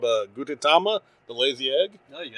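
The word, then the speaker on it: Gudetama: I've got her a couple of things of I'm going to mispronounce this, but the fake egg can come fight me. It's called Gutitama, the lazy egg.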